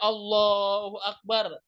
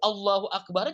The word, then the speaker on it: Allahu akbar: nggak sah salatnya nyebut Allahu akbar juga mesti betul Allahu akbar Allahu akbar jangan Allahu akbar artinya kalau yang tadi Allahu Akbar Allah Maha Besar kalau kita bacanya Allahu akbar artinya jadi Apakah Allah Maha Besar berubah atau misalnya kita Takbiratul Islam maka akan berubah juga artinya jadi Allah bedug gendang ini bahasa Arab itu panjang pendeknya berubah aja sudah